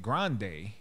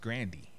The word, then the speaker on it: Grande: and then so then she has they started pronouncing it grande but in the family it's pronounced grandi and then when they introduced themselves its grandi